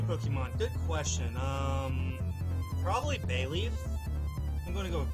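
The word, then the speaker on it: Bayleef: make it look beautiful bay leaf is actually spelled with two E I know it doesn't make sense but it's uh b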